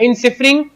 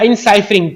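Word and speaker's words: enciphering: तो इनक्रिप्शन क्या होगा, वो प्रोसेस होगा इनकोडिंग का या इनसिफरिंग का, इनसिफरिंग या इनसाइफरिंग, तो ये दोनों प्रोनाउंसिएशन है, तो इनसाइफरिंग ज्यादा बेहतर रहेगा।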